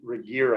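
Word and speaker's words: Regier: the author is nate reger i think is how you pronounce his last name r r-e-g-i-e-r but here's the definition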